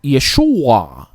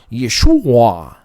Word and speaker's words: Yeshua: era representado, por exemplo, Yeshua, é um A gutural, Yeshua, é bem diferente, né? Hoje se fala Yeshua para facilitar a pronúncia.